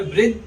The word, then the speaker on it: वृद्धि: ऐसे ही वृद्धि, दो आधा है, ध पूरा है, दो आधा है, ध पूरा है, तो बोलते समय वृद्ध, दो हलंत है, वृद्धि, ऐसे उच्चारण करेंगे।